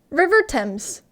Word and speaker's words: Thames: so it's weird hold on uh river dams pronunciation there we are river thames river thames yeah exactly english